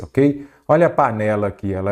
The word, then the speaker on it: panela: vamos lá par nela Qual que é a sílaba tônica panella panela ou panela panela então é a penúltima aí você já sabe